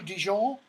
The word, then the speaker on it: Dijon: Hermione, ooh, Dijon. She pronounces it correctly.